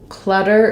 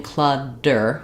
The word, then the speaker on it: clutter: So clutter is an example of the T in the middle. When it's followed by an unstressed syllable, we typically use a flap there. So I could rewrite that with D's. We do the same flap sound for T's and D's in the middle of words when it's followed by an unstressed syllable. So just like a word like better, betting, butter, it sounds like a light D.